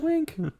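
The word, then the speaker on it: Nguyen: Like win is spelled n g y u n.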